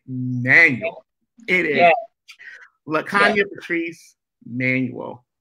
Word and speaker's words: Manuel: It is not Emmanuel, it is Manuel.